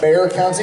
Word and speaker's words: Bexar: I'm from San Antonio in Bear County. Bear County. Also known as Bexar County. Yeah. It's ironic because I hate bears. I'm terrified of bears. Oh. But it's spelled Bexar.